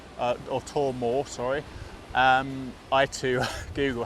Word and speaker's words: Twr Mawr: at this half here the lighthouse is called tor morph or tor more sorry I to Google how you pronounce it it's actually quite easy really cool